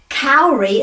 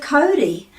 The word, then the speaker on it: Kauri: How can we break the habits of generations of people before us who said Kauri instead of Cody?